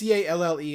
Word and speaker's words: Calle: It's Calle, and I know she's Latina, so I would assume it's pronounced like Streets. Calle. Sasha Calle.